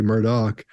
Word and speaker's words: Murdaugh: oh my God okay we heard him call himself murdick once and then he goes to murder oh then I hear him say Murdock yeah hell it's a Scottish name pronunciation can go all over the place Mark's called a murder